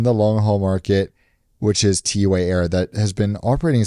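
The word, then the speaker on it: T'way: So that's so I was like, is it Tway? But T-Way, from our understanding, we are correct by pronouncing it, are going to take 777s.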